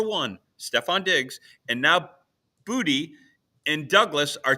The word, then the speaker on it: Boutte: Booty. Sorry, but they say Boutte. They say Boutte in the French Quarter. But he said he pronounces it booty.